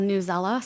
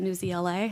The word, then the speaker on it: Newsela: We have brought on in its place a program called Newsella. Sometimes people call it Newsela. It's pronounced both ways.